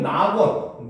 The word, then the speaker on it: 낙원: 근데 이게 앞에 오면 낙원, 니은이 되죠. 낙원상가 하잖아, 그렇지? 근데 뒤에 오면 쾌락, 리을이 그대로 발음되죠, 그렇죠?